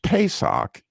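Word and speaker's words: Pesach: So the word Passover that Jesus that God used in writing out in the book of Exodus is pronounced Pesak if you were to say it in Hebrew.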